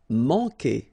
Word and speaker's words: manquer: Manquer. Okay, remember when we get this Q, after that automatically we get this U, but then we don't pronounce the U, okay?